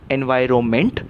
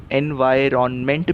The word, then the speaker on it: environment: So correct word is, correct pronunciation is एनवायरोमेंट, और एनवायरोमेंट से बना एनवायरोमेंटल, लेकिन कुछ लोग इसको एनवायरनमेंट भी कहते हैं, और इसलिए इसका एनवायरमेंटल भी होगा। आपको जो सही लगे आप उसका उच्चार कीजिए।